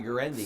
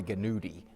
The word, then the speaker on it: Guarendi: Ray Guarendi. Thank you. Thank you very much. I'm surprised you pronounced the name correctly. It's very hard. It's Last an time Italian he said Roy Ganuti.